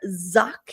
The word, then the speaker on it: Zach: Uh, so I'd love to welcome Zach is how you pronounce her last name. It's spelled Zach, but it's not pronounced like that.